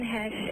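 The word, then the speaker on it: Heche: I've been told I look like Anne Hesh and Charlize Theron. Anne Hesh? Ooh. Anne Hesh. Ooh. Hesh rhymes with geish.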